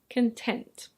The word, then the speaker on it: content: Next we have "content". Content. Be careful of the pronunciation.